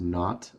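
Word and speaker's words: naught: the initial velocity um that zero is pronounced not it's a British term which means nothing so xnot is the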